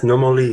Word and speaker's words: Nomoli: But we're going to be talking about the stones, which are the Nomoli. Is that how you pronounce it? Nomoli stones? Yes, Nomoli stones.